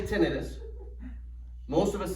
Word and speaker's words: tinnitus: Tinnitus. Oh, okay. Who says tinnitus? Who says tinnitus? I tell everybody the same thing. The way that you say this word depends on how many initials you have after your last name.